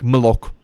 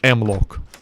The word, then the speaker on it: Mlock: You get shit like Mlock. And I know, they probably wanted me to pronounce it as M-Lock. Nah. We know what you're copying. It's Mlock. It's just Mlock.